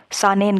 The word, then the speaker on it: Saanen: ठीक, यहाँ पे एक क्वेश्चन और है, वो ये है कि जहाँ कॉपी में नोट कर रहे हो वहाँ लिखो, सानेन करके है, स्पेलिंग आपको बोल देते हैं SAANEN, सानेन एक स्पीशीज़ है ऑफ गोट, गोट की है।